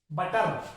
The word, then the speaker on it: butter: जैसे BUTTER, बटर, बटर नहीं, बटर, ए पे खत्म करो उसे, ए पे खत्म होगा, ये रे की साउंड आएगी ही नहीं, बटर, कार।